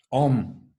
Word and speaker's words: Om: Bueno, entonces, Om, que estrictamente no es O y M, es la sílaba O con un sonido de nasalización, ¿no?